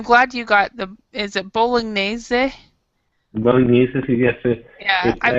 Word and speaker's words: bolognese: And I'm glad you got is it bolognese?